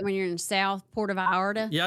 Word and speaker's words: Puerto Vallarta: That's how you say it when you're in the South, Puerto Vallarta.